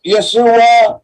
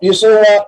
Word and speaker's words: Yeshua: Tandaan natin the first part of Yesua consist the letter yud followed by vowel serra unpronounced ye. How do you represent the sound in Greek? The letter Uta followed by letter eta and pronounced exactly as the same in Hebrew ye.